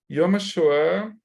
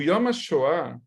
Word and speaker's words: Yom HaShoah: como a gente chama, não é Yom HaShoah, assim falam os americanos. Yom HaShoah, gente, Yom, M, tá? Yom HaShoah, Yad Vashem, a gente pronuncia o M, tá bom? É diferente do N.